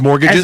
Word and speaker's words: mortgage: You're Yeah, you sound like you do a little mortgage like there's a The T is there.